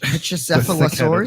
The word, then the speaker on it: Pachycephalosaurus: Pachycephalosaurus.